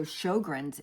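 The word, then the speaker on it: Sjögren's: So, shoggrins is spelled s j o g r ns.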